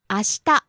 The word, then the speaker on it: 明日: 明日 Tomorrow. 明日明日 Rising on the second syllable, sheet.